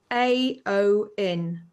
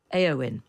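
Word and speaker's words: Éowyn: what's this one called it's AO n AO in okay storm aoin uh spelled with an EO Wy n that's it isn't it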